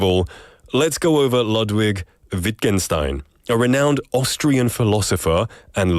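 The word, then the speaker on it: Wittgenstein: a quote by lwig wienstein um I hope I'm pronouncing that right lwid or probably lwig wienstein yeah viken Stein will be right a new word is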